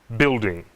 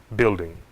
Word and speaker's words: building: Guest, guitar, building. Observe, não pronunciamos a letra U nessas palavras. Guest, guitar, building.